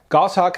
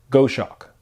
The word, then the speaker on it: Goshawk: from the company goshawk gosshawk outdoors out of australia now i'm not sure if that video got more attention because of the actual product or the fact that i mispronounced goss hawk as goshawk regardless many people checked